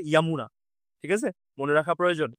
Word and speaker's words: যমুনা: বলি সবাই আমরা ওটা যমুনা না আসলে উচ্চারণটা হবে ইয়ামুনা ঠিক আছে মনে রাখা